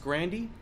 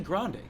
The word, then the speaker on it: Grande: And when I found out, he pronounced Grandi because his Sicilian background, he was embarrassed because he didn't want to tell everybody he was Italian. So he named it Grandi. It's really Grande.